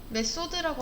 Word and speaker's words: 메서드: 메소드라고 하고요, 메서드라고도 합니다. 뭐 발음하는 거에 따라 다르긴 한데 똑같고요.